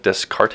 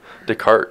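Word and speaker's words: Descartes: philosophers names really well it's like descarte is but correct decart is actually a mathematician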